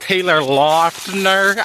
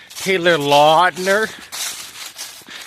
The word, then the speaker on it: Taylor Lautner: It's Twilight Taylor Lautner. I looked it up. That's the correct pronunciation. Taylor Lautner.